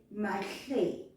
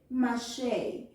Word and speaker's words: Mahle: We just drop the A, that at the beginning, and we say Mahle. But during the whole mini-series, everyone said Mashe, Mashe, Mashe. No one ever said this name correctly.